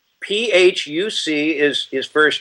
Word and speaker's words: Phuc: Phu Dat Bitch is his real name. I guess it's pronounced Phu, not Phuc.